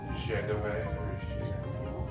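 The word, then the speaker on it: Dzagoev: Then you got Igor Denislov, Alan Zhagove. You don't pronounce the J.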